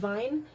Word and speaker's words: Wein: W's are pronounced as V's. Yeah. Alle saufen Wein.